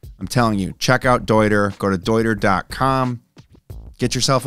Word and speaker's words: Deuter: Dude, it's pronounced Deuter. I didn't name them. They named them. It was a man's last name. That's how it's pronounced. No more Deuter. It is Deuter.